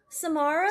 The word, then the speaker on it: Samara: So I guess you can take it with a grain of salt, but um how do you pronounce this first name? I don't know. Samar Samara Samara.